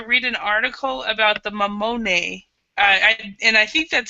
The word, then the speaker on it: mammone: it do you think that's probably how to pronounce it or do you know yes amone okay all right um so we're going to